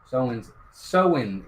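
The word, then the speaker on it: Samhain: Soin, it's pronounced.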